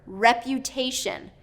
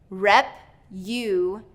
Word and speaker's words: reputation: Reputation. Rep-u-ta-tion. Rep-u-ta-tion. Third syllable stress here. So te is going to get the stress. Reputation.